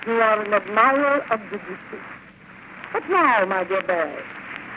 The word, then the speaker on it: Debussy: It should be said quickly. Debussy. Well, Debussy.